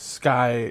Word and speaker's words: Schuy: And yes, that is not Sky. It's S C Hu Y, which could also be pronounced school. But I that's how my name is spelled and it's always been pronounced.